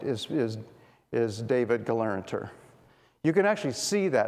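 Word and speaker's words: Gelernter: And by the way, his name is Galeranter, so you have to add another syllable in his name that's not there.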